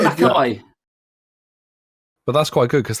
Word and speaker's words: Mackay: For the future, it's Mackay. It's Mackay. So you can't say, it's not just me. Mark, you just said the same thing twice. You just said, Mackay.